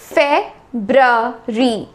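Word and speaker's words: February: फरवरी का महीना आ रहा है, बहुत लोग इसे फरवरी बोलते हैं, फरवरी। फरवरी तो ये होता ही नहीं है, फेब्रवरी भी नहीं होता। ये एक्चुअल में इसका जो सही प्रोनाउंसिएशन है वो है फेब्रवरी, फेब्रवरी, फेब्रवरी।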